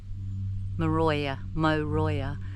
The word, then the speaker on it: Moruya: And it's spelled M O R U Y Aya. Moya, but they say Moya.